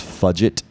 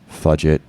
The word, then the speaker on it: Fudget: right let's go with there's fudget spelled like budget but with an F which I think is really